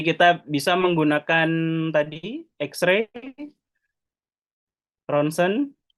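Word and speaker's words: rontgen: Jangan ada lagi yang baca rong gen ya. Ini anak-anak koas itu biasanya bacanya rongen. Jadi ketika disuruh baca ee artikel gitu dia bacanya rongen hasil rong gen ronsen ya tulisannya rong gen bacanya community scan kemudian MRI.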